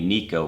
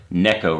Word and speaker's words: Neko: But what's new is how they are fishing these baits on a Nico rig, or Neko rig is the actual correct pronunciation.